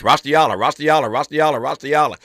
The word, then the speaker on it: Raustiala: UCLA law professor Raustiala. I've been practicing that for 2 weeks. Raustiala. That's how you pronounce it.